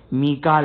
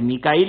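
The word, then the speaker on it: ميكال: अब यहां पर जो जिब्राइल की प्रोनाउंसिएशन, कि जिब्राइल जिब्राइल दुरुस्त है, जिब्रील दुरुस्त है, मीकाइल दुरुस्त है, मीकाल दुरुस्त है, लेकिन यहां पर क्या इस्तेमाल हुआ है? मीकाल आया है, मीकाइल नहीं आया है।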